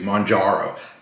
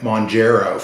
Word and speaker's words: Mounjaro: thing of mararo uh I'm trying to say it right for my for my guys out there that it makes a difference to Monaro I was saying mongero for a while and people some people